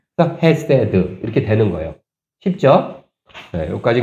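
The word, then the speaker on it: חסד: 이거는 액은 S 오시라 그랬잖아요 거기다 똑같이 애 발음 나니까 세 그렇죠 그다음에 맨 끝에 아무것도 없으니까 그냥 디귿 바음 그대로 드 해세드 이렇게 되는 거예요 쉽죠네 여기까지 그냥 기초 쉬워요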